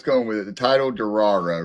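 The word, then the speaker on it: Durarara: with it, the title, Darra, right? It's it's spelled like D U R A R A R A R, but it's it it's supposed to imitate the sound of a motorcycle.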